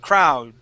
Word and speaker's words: crowd: Crow D Crow okay give me that D at the end crowd almost okay all right so